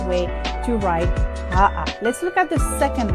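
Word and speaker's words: ʻaʻa: AʻA, that is correct.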